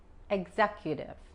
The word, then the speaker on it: executive: Esta aquí es como la G de gato más la Z. Executive. Y cuando pronunciamos la U aquí, se escucha como la doble L de español. Executive y la I es corta.